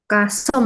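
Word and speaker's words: CUSUM: Yang pertama di sini kita punya kumulatif sum ya, atau sering disebut ini bacanya ini ya kalau pakai bahasa Indonesia kasum gitu ya.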